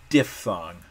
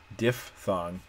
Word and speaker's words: diphthong: diphthongs by the way diphthong what a crazy word d-i-p-h-t-h-o-n-g-s diff thong it's weird to spell it's weirder to say and you will definitely hear me say diphthong sometimes because that's just what it's what i used to think the word was when i was in